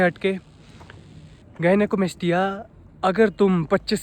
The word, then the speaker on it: gynecomastia: गाइनेकोमेस्टिया, या तुम कह सकते हो इसे गाइनोमेस्टिया। आजकल पता नहीं जो भी मैंने देखा है प्रोनाउंसिएट ही इसको ऐसे करते हैं, गाइनोमेस्टिया गाइनोमेस्टिया। ये गाइनोमेस्टिया गाइनेकोमेस्टिया है।